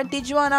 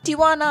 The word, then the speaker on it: Tijuana: So usually வந்து நம்ம டிஜுவானா அப்படின்னு டக்குன்னு படிச்சிருவோம். பட் ஜே வந்து சைலண்ட்டு, அதனால் இதை எப்படி ப்ரொனவுன்ஸ் பண்ணுவாங்க அப்படின்னா டிவானா அப்படின்னு சொல்லுவாங்க.